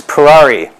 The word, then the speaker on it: Perari: It's Perari, like Ferrari with a P.